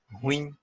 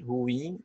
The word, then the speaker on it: ruim: inúmeros falantes de português pode ser pronunciada como Moinho ruim não é o acento no i' ruim ou acerto no ruim o símbolo indica alternância